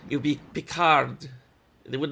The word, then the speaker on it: Picard: you know I'm gonna I hate how she doesn't pronounce the d in Picard's name that is not that is not a thing with French language that doesn't make any sense you'll be pick hard